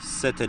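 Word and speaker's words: Sète: şeklinde olacak güzergahımız Fransa'nın sete limanından bineceğiz gemiye biz böyle Türk şoförler sete diyoruz Fransızlar set diyorlar okunuşlar Öyle en başından videonun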